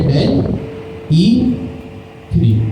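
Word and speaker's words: DALL·E 3: अगर आपने नाम सुन रखा हो डेल ई थ्री का इसको आप यू प्रोवाइड प्रोनाउंस करेंगे डेल ई थ्री।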